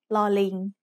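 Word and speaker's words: ล: It's called lo ling. Lo ling as an initial consonant is l, like the L in little. When it's the final consonant in a syllable, lo ling also makes an m sound.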